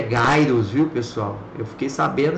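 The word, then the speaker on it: Gyruss: é a é a a pronúncia correta é gaos viu pessoal eu fiquei sabendo esses tempos aí que pronuncia gaos a gente chama giros mesmo então é um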